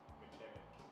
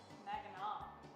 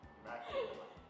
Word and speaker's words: Mackinac: McKinnon. Mackinac. Mackinac. That's how it's pronounced Give here. up. Mackinac.